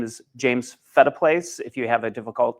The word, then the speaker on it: Phetteplace: Um, so I usually tell people, you know, feta cheese, feta place, that's how you can remember how to pronounce that name.